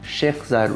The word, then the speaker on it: Sheikh Zayed: Sheikh Zayed Road.